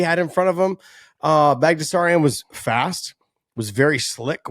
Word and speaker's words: Baghdasaryan: Baghdasaryan.